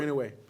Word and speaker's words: Inoue: Now, before we get to Errol Spence, Bud, Stevie Fulton against Neo you pronounce it better than I do. Inoue.